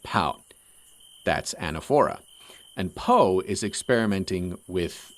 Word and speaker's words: anaphora: style you know there's something called anaphora at least I think it's pronounced that way which means that you